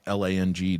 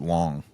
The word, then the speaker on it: Lang: If you don't pronounce it Lang, they're mispronouncing it, whoever they are. Yeah. No, there was a guy named Robert Lang in the NHL, and he pronounced it Long. No, Robert he's wrong. Long. I'm like, that's just wrong.